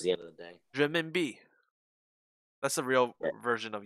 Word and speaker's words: renminbi: No, it's pronounced renminbi.